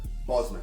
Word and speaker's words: Bosman: that you pronounce the name Boltzmann lucemon Boozman Bosman that's how you pronounce it Boltzmann was when ruling shut up